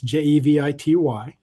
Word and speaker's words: Jevity: So the community is called Jevity, spelled with a J. So it's Jevity.